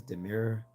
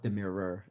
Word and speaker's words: Demir: Um, SL Fisher says Demir, Demir, not Demirer.